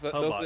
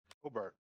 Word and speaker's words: Hobart: Your T is almost not pronounced as a T though. Hobart. When you say it, I feel like you're not as stiff on the T as we are.